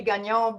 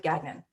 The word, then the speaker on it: Gagnon: It's supposed to be Gagnon, but no one other than on East Coast pronounces it that way, so we go with Gagnon.